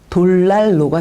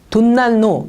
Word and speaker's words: 돌난로: 그러면 발음은요? 돌날로가 되겠죠. 그래서 돌로 만든 난로는 돌난로가 되는 것입니다. 돈난로 이렇게 발음해도 안 되고요. 예, 돈난로 이렇게 발음해도 안 되고요. 반드시 돌난로 이렇게 발음을 하셔야 해요.